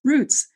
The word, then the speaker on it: roots: I say it like soot, and then Yep. most people say it like boots, roots.